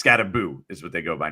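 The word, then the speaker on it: Skattebo: And by the way, it's definitely Scataboo. I asked him specific. It's been that. Yeah, I know. But I It's still It's spelled Scatabo. Uh you could go as Scatbo or he said that technically is when they came to America his family that's that's what it was some some version of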